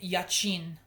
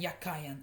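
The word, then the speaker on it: Jachin: is BAS and yakan the B and Yin is how I thought they were pronounced but they're actually pronounced baz and yakan and I'll show you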